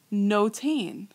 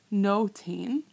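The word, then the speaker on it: נוֹתֵן: mayam what's my participle no teen because it rhymes with shomer i have my cholam in there no teen so hashem gave to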